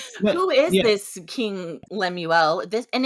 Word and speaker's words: Lemuel: this yes yeah teaching it to King uh Lemuel I think that's how you pronounce it Lemuel I yep who knows lemu lemu Le mule like a French mule no okay um it's Lemuel L I like I mean that sounds better